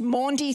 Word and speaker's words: Maundy: in that final week until you get to Maundy Thursday I think I'm saying all these right